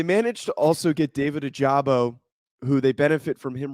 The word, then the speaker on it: Ojabo: It's not bam. It's bomb. Okay. Bomb. They managed to also get David Ojabo, who they benefit from him recovering from an Achilles injury.